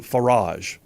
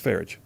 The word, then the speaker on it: Farage: She says that I should pronounce his name Farage. I can't do it. It's Farage. Anyway, I don't know how his name is pronounced.